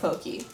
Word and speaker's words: Pocky: found it is it pocky or pokey it's okay it's technically supposed to be pronounced pokey but no one says that here because don't